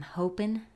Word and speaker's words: hoping: Y otra vez no se pronuncia la última letra G de la palabra hoping. Se pronuncia I'm hoping. I'm hoping that you'll hear these prayers of mine.